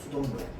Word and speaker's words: 수돗물: 근데 우리 발음할 때 어떻게 발음하냐면 수돗물 이렇게 발음하거든요. 수돗물. 자, 그래서 수도에 니은이 붙고요. 그 다음에 물이 됩니다.